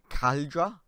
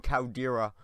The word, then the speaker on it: Caldera: Someone commented saying I'm pronouncing it wrong, I'm sorry, but I'm going to move on over to there and catch you when I've got there. Alright guys, we're at Broken Caldera. See, I'm remembering to pronounce it correctly.